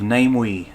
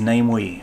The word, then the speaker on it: Namewee: about the pronunciation of name we and um so last time i thought the pronunciation was uh namewe or namiwii but actually uh since found out that the pronunciation is namely so i apologize for